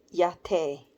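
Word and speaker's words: Majette: stuff Ma j e t t e is pronounced yate but most folks call her mom jet her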